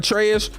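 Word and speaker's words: Atreus: I told you that atraeus rhymes with betrus this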